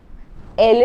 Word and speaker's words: elles: The pronunciation is not ils and els, it is same as this, il and el.